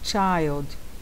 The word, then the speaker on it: child: Filho, child, como se tivesse um T na frente. Child.